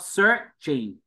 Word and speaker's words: searching: Em thấy chữ sờ chữ ơ đọc là sơ không? Chatting. Chữ sờ với chữ ơ đọc là sir. Và chữ sơ này là cong lưỡi. Bởi vì sơ hai chấm khẩu độ 3 cong lưỡi lên.